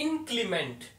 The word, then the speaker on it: inclement: इसकी प्रोनाउंसिएशन देखें, इनक्लीमेंट।